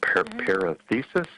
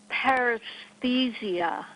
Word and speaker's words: paresthesia: Was it parathesis, or how do you pronounce that? Paresthesia.